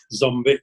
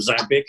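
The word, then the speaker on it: Ząbik: this name carefully, Zombic, because I was always told to say Zombic, not Zabic, as people would like to say, how it's spelled.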